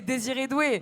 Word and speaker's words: Désiré Doué: quand on sort et qui a une belle prononciation, c'est Désiré Doué.